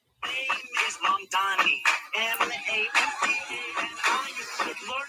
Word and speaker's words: Mamdani: Mamdani. M-A-M-D-A-N-I. You should learn how to say it. M-A-M-D-A-N-I. The name is Mamdani. M-A-M-D-A-N-I.